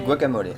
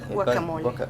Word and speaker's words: guacamole: On dit guacamole. Guacamole. Guacamole. Parce que tu prononces toutes les lettres en espagnol, donc le E.